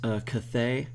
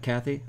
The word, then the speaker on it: Cathay: Also, I realized that I accidentally mispronounced Cathay earlier and called it Kathy.